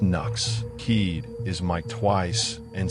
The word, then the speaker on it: Nux: That's pronounced Knox.